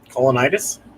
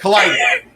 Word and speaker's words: colitis: Colonitis? Yes. Well, not colonitis, but cola something. Yeah. It's easier to spell than to say. Colitis. Colitis, okay. I think that's how you say it, is colitis.